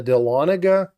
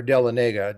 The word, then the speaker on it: Dahlonega: But what was one of the primary reasons that these two mints, the Dahlonega and or Dahlonega, depending upon how you say it, I always say it wrong, and the Charlotte mints,